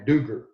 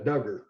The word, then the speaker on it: Dugger: further east and northeast they would say my name Duker instead of Duggar and it was one